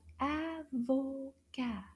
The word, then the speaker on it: avocat: Oui, an avocado in French is called avocat. Avocat. How many syllables do you hear in the word avocat? Avocat. Let's try that again. Avocat. Trois syllabes.